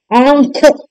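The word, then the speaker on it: आँख: आपका चंद्र बिंदु वाला आंख अंख अंख न का उच्चारण बीच में आएगा आ और ख के बीच में अंख और जब न का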